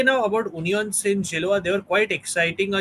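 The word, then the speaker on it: Union Saint-Gilloise: uh, and you, yeah, it's pronounced as, again, if you are confused, it's Union Saint Gilloise.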